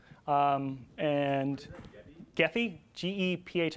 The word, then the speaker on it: Gephi: uh large data sets gaffy um and gethy g-e-p-h i think it's actually pronounced ajifi because it's french which i find really